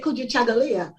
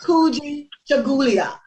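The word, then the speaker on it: Kujichagulia: event at the time i couldn't say kuju chagalia i used to say kuji chagulia because i'm looking at how it's spelled right and in the audience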